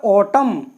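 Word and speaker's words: autumn: ही लिखा हुआ है ऑटम ऑटम मेंस होता है पतझड़ तो यहां पर एम ओ एन दोनों साथ आए हैं तो एन बिल्कुल नहीं बोला गया है इसमें हमने सीधा ये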